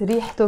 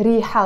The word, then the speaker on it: ريحة: It has a T مربوطة in the end. When I pronounce the word on your own, on its own, sorry, ريحة. We don't pronounce the T مربوطة. We just say ريحة. We never say ريحت.